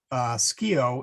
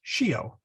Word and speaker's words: scio: There's a noun, or sorry, there's a verb in Latin, scio, which means I know, SCIO. So it's not pronounced scio, it is pronounced scio.